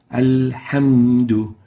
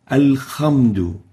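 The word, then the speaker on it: الحمد: Some people would pronounce the ha with a kha, al-khamdu, or with a ghain, al-ghamdu. And both are wrong. We should pronounce the ha as a ha, like this, alhamdu, hamdu, and not khamdu or ghamdu.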